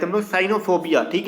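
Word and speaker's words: cynophobia: करेंगे, क्योंकि साइकिल में जब सीवाई को साइकिल पढ़ेंगे, ठीक है, तो हम इसको सीवाई को यहाँ पे साई क्या ही नहीं पढ़ेंगे, हम इसको साइनोफोबिया ही पढ़ेंगे, ठीक है।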